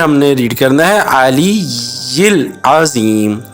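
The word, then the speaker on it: العلي العظيم: الا باللہ العلی العظیم۔ علی العظیم، یہاں ہم نے علی یل نہیں پڑھنا، علی یل نہیں پڑھنا، ادھر ہم نے ریڈ کرنا ہے علی العظیم، یا کے نیچے ہم نے زیر پڑھنا ہے۔ اب دوبارہ سنیں، سبحان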